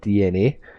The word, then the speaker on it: DeNA: japanese mobile gaming giant dna which is spelled weird it's d-e-n-a so it has pronounced dna though so what they are